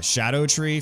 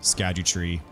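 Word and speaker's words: Scadutree: I've I have learned that the cor correct pronunciation is uh Shadow tree fragments but old habits die hard unfortunately so I still call them scadu tree fragments by in Instinct all right got The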